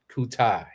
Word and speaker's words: Coutai: I know there are some different pronunciations of Koutai, but I did talk to the owner. It is named after his son. So, it is Coutai.